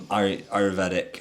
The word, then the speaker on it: Ayurvedic: another um Ayurvedic I've pronounced that wrong but Oh no, you said it right.